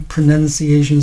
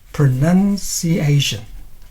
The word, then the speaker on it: pronunciation: Primary stress falls on the 4th syllable, and the secondary stress falls on the 2nd syllable. So it should be like pronunciation.